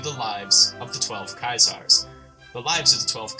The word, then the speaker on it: Caesar: For example, all C's will be hard, all AE or ash characters will be pronounced as a Y, usually.